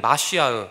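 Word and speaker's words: מָשִׁיחַ: 우리는 마시아흐, 머사야를 메시아로 발음합니다.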